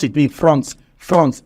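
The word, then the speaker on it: fronds: called France what are they called France France pronounce it me France France f r o n DS France another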